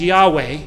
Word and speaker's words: Yahweh: the name is pronounced the scholarly consensus is Yahweh emphasis on the last syllable there's some Coptic and Egyptian sources that make me think Yahoo but I don't know